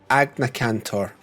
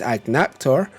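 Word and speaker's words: Agnaktor: the two names and they would call it agna cantor mixing its name with a cantor so we've always called this monster even though it isn't called that we've always called this monster agna cantor just for my friends who've always said it wrong i know it's ag nectar but i like to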